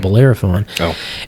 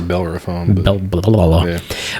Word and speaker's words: Bellerophon: fantastic barley wine called bellerophon and the thing is i said it wrong oh it's a bell or a phone but um it doesn't